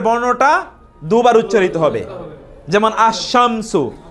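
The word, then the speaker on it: الشمس: যেমন আশামসু আলিফ লাম উচ্চারণ না হয়ে শিন উচ্চারিত হয়েছে দুইবার।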